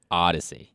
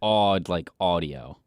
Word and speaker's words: Odyssey: and I it's it that's not how it's pronounced it's not Odyssey right that that's yeah I mean Greek Greek usually has some pretty good slams that's not his best that's not the best because there's no odd in Odyssey correct there's D there's a d but that's it's odd like audio yes he's mispronouncing it